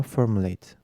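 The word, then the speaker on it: formulate: Fiillerde telaffuzu /eyt/ şeklinde, sıfatlarda ise /ıt/ şeklinde; mesela /kendidıt/ ama /formuleyt/. Numero 32, İngilizcede “-able, -ible”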